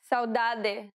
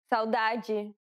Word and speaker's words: saudade: First, let's see the two ways you can pronounce the D. Saudade, saudade.